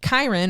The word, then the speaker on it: Chiron: Chiron, or Karen, however you want to pronounce his name, would take people over on a boat across the river Styx over into the underworld.